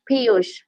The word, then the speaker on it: Piyush: you need to say, Piyush. Every learning process It's goes Piyush. through. You can call him Piyush, teacher. I don't know. What did you say, Neha? Piyush. You can pronounce this Piyush.